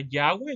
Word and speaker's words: Yahweh: En hebreo también, pues se llama Yahweh en su pronunciación, es el mismo nombre,